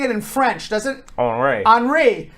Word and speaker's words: Henri: Meanwhile, very fancy hurricane, tropical Henri. I was calling it Tropical Storm and Hurricane Henry. Nope. But nope. Henri. Sounds French.